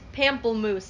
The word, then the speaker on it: pamplemousse: um unofficial sponsor of the day lacroix the pamplemoose how do you pronounce that the flavor is pamplemousse everyone give it up for pamplemoose painful uh